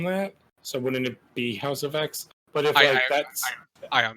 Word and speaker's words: House of X: Now, is it pronounced House of X or House of 10? I think it's House of X based on House of M.